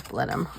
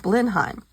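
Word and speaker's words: Blenheim: straford upon Avon here's blend him okay I kept saying how come you're not calling it blindheim she go cuz it's not pronounced like that oh I got a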